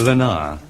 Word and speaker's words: Leonard: Leonard was in government service. Lenar. He pronounced it Lenar the French way.